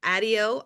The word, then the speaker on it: Addio: And she said it's Addio like patio.